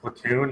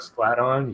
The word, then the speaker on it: Splatoon: And yeah, if you guys want It's to, pronounced platoon, not splat on.